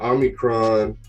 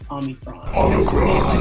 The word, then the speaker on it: Omicron: So I'm glad I got you here because, you know, Omicron has been like on the news. It's everywhere. You said it wrong. You have to say it Omicron. Like ominous.